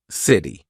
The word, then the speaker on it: city: in American pronunciation so when the letter T is in between two vowel sounds or dip thongs all right we're going to use that quick D so city right I'm not saying City it's in between two vowel sounds so quick D City pretty not pretty pretty